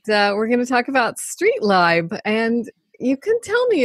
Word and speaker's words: StreetLib: It's StreetLib, not StreetLib, and you'll find out why.